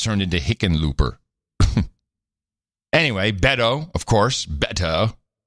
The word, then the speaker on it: Hickenlooper: Amy Klobuchar, yeah, Kamala Harris, Bernie Sanders, John Hickenlooper. Hickenlooper. Well, it's a Dutch name. Heckenloper.